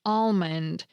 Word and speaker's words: almond: Some Americans give it a soft L sound, while others skip it entirely. I happen to be one of the speakers who pronounces the L almond, which is why I